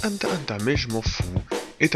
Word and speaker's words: Hunter x Hunter: Alors, Hunter x Hunter, ouais je sais, les puristes me diront oui ça se prononce Hunter Hunter, mais je m'en fous,